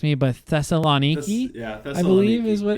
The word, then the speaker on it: Thessaloniki: Garrett, you can feel free to correct me, but Thessaloniki, Thessaloniki, I believe is what. Yeah, and Thessaloniki. obviously, if you're a Christian and you read about Paul's time in Thessaloniki, and the Bible says Thessalonica.